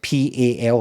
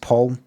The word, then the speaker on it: Pal: His name is uh spelled P A L like pal, but it's pronounced Paul. I've been calling I've been saying pal, but it's actually pronounced Paul.